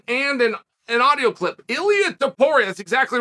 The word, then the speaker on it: Ilia Topuria: me a phonetic spelling and an audio clip Ilya deporres exactly right it's worth knowing right we don't